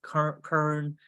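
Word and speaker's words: Köln: there's another story in I think it's pronounced Kern k-o-h-n uh Germany we'll be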